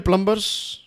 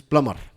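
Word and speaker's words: plumber: Okay, तो skilled प्लम्बर्स, प्लम्बर नहीं कहते, इसका राइट प्रोनाउंसिएशन जो है दैट इज प्लमर।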